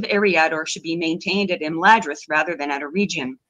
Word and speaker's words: Imladris: So, they say Imladris rather than Imladris, which is close enough, I guess.